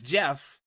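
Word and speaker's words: Geoff: I always pronounce it Joff because that's the way it looks but it's Jeff.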